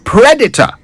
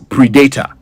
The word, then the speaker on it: predator: So that's predator, not predator.